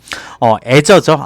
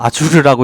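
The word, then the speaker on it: Azure: 성장하는 클라우드 컴퓨팅 비즈니스 애저죠 아주르라고 읽었는데 애저죠 클라우드 컴퓨팅 플랫폼 애저는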